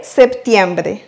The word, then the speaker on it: septiembre: Septiembre. Et puisque le R il est au milieu du mot, on va prononcer le R simple. Bre. Septiembre. Et quelque chose de très important. Faites attention au i. Par rapport au français, il n'y a pas de i, on dit septembre, alors qu'en espagnol, on dit septiembre.